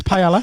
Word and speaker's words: paella: It's paella. Because you're English, you say paella.